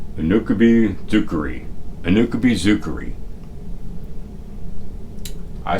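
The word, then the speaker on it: Unokubi-zukuri: Now, I asked the little Japanese lady app in my phone how to pronounce that, and she said Unakubi Zukuri.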